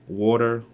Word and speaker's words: water: speak American English so I would pronounce water water and people like no that's not how you say it you say it what water like but there's no D its water I would say compared